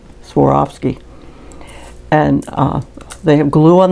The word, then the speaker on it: Swarovski: These are Swarovski crystals, and the way you pronounce that is you swore off skiing, Swarovski.